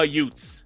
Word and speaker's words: Utes: see the Utah youths only it would be pronounced like Uncle Vinnie and my cousin Vinnie it'll be the Utah Utes the Utah Utes so